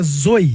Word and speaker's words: Zoi: A pronúncia certa é zoi. Zoi. Zoi. Mas se falar zo não tem problema também não.